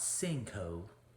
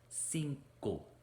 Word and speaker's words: cinco: cuatro five in spanish cinco not cinco cinco pure vowels cinco what do you call